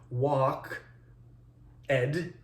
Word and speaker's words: walked: into one syllable so you have to say walked as if there's a t there instead of an ed and you have to